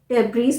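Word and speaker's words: debris: काट अला काट और डी ई बी आर आई एस डेबी नहीं होता है डेबी डेबी अब धसे ही याद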